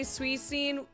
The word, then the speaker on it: Suicune: I say Suicune with a soft C, but Arceus with a hard C.